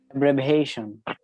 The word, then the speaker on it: abbreviation: abbreviation, Abbreviation. abbreviation, ভাস করার দরকার নাই, নরমাল উচ্চারণ করো। abbreviation, Abbreviation. abbreviation, এখানে abbreviation, এই এটা আ চলে আসবে, হ্যাঁ, ওই about এর মতো, Abbreviation.